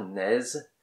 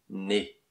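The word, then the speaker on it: nez: Pas naise, né.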